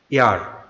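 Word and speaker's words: heir: তারপরে হচ্ছে নিচে আরেকটি উদাহরণ এয়ার, মানে উত্তরাধিকারী, এয়ার, এখানেও এইচ এর কোনো উচ্চারণ হয় নাই, তা আমরা এখানে এন এয়ার লিখব।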